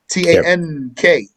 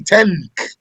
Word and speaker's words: tank: You don't say tank. You bring it from the back of your tongue. You say tank.